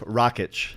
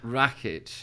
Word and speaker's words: Rakich: So it's Rakich. Rakich.